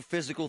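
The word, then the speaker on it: Fyzical: You want a new physical therapy experience. You want a treatment plan centered on you. Monroeville Physical, spelled F Y Z I C A L, is spelled different.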